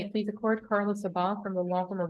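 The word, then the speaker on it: Sabbagh: Sabah, S-A-B-B-A-G-H, Your Honor. S-A-B-B-A, G-H, and it's pronounced Sabah.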